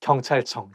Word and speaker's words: 경찰청: So I think it's because CH sound, like when it's placed next to each other, I think it's going to make the word not easy to pronounce. 경찰청, 경찰청. And it also has 이응, 응 sound at the end of each character. So 경찰청. 경찰청 청창살은 왜 청창살이냐 쌀청창살이냐 something like that.